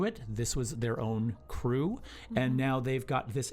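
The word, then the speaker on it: krewe: know there are these crews they call themselves they're they're called crews and crew is spelled k-r-e-w-e and a crew is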